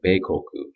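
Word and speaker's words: 米国: in the second one means country and then pronounced in Japanese you would say bekoku um what are some ideas you really have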